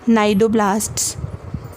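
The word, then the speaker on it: cnidoblast: left को यहां पर नायडू ब्लास्ट यह Play Services night door ब्लास्ट बड़े नायडू क्लासेज तो उनको हम शुरू करते हैं लेकिन एक्चुअली इनका सी साइलेंट होता है क्लियर कि नायडू अलास्का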